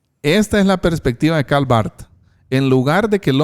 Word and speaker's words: Karl Barth: Ahora, quiero leer algo de un teólogo muy conocido, Karl Barth, creo que así se pronuncia. Karl Barth, sí es, así es.